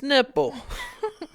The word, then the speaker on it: Knipple: You know the K is silent, bitch. You're Miss Nipple. Quit acting like the K ain't silent.